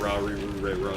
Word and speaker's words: Lalilulelo: So it's written as Lalilulelo, but it's pronounced as like Ra-ri-ru-re-ro.